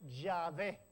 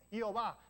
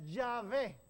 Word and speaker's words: Yahvé: Tiene 4 consonantes y nosotros pensamos que se describe Yahvé. En otras traducciones incorrectamente lo dice Jehová, pero es Yahvé, el nombre de Dios. Yo soy el que soy, Yahvé.